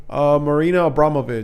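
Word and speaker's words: Marina Abramović: Marina Abramovich.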